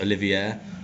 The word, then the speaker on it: Olivier: pronunciation is very off it's olivier not to be confused with olivia he's a bloke that's